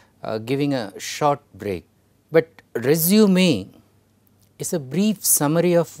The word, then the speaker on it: résumé: The words are resume and resume. Now, when I pronounce, you can slightly understand the difference.